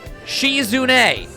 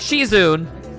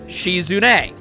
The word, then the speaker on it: Shizune: I have been saying this young lady's name wrong this whole time. It is, in fact, Shizune. Not Shizune, Shizune.